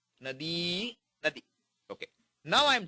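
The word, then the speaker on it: नदी: Pronounce it right, okay? E. Nadi.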